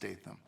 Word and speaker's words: Statham: a t h m it's kind of like statam but pronounced STM and uh I'm doing